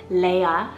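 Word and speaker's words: Lea: great grandma's name so they are french canadian so they pronounce it as leia spelled l-e-a and it's english originated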